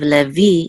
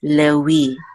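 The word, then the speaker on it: לֵוִי: And also anciently, the vav was a wow, so it was pronounced like a W or a U. So this would be, instead of Levi, it would be Lewi.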